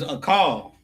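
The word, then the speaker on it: אכל: Eight is a call. That's how you say it. A call. A a h k a l. That's how you say to eat in Hebrew.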